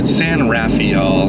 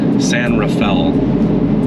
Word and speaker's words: San Rafael: but they pronounce it San Rafael, is how you would say it if you're in Utah. And I've stuck with San Rafael.